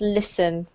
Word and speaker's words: listen: Okay, listen, winter, eating, after. Perfect. Well done. This is really a silent T, so it's pronounced listen.